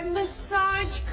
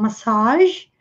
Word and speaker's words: massage: E essa palavra tem pronúncia diferente no inglês americano e no inglês britânico, porque no inglês americano eles falam massage, com a ênfase aqui no final, massage, e no inglês britânico